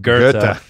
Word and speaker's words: Goethe: and by the way, my whole life I thought it was Goethe, and then I heard someone pronounce it, and it's right? fucking Goethe. The fuck? Anyways. There's a secret R in there.